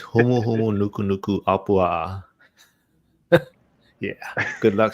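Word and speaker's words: humuhumunukunukuāpuaʻa: It's humu humu nuku nuku apua.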